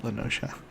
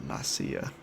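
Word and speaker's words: La Noscea: And yes, I pronounce it Lenosha. Not Nasia.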